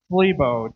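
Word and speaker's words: θλίβω: It's a Greek word. It's pronounced Thlebo, T-H-L-E-E-B-O.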